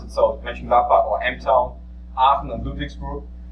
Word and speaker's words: Mönchengladbach: I didn't know any guy in USA who can pronounce it. So Mönchengladbach or M-Town, Aachen and Ludwigsburg.